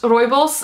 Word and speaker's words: rooibos: I also really like rooibos, which in Dutch is pronounced rooibos, and that's how it's also spelled in English, and it always confuses me.